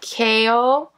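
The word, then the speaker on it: 界王: There's a second symbol that is pronounced Kao, meaning the world king.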